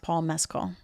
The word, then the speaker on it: Paul Mescal: So they say his name is pronounced Paul Mescal.